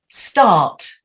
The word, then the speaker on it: start: are uh like start they're not stuck they are start die yeah because we don't say an r if i was american i'd say start let's start but we don't say the r so you say instead of saying the r you just go start like that that's it it's